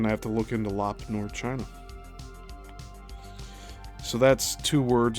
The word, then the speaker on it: Lop Nor: I'm going to have to look into lop nor. So that's two words. It's spelled L O P N O R.